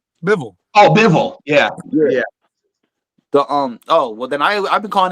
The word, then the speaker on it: Bivol: Like the dude that I can't pronounce the guy's name, but the one that beat Canelo. With a B. Bivol.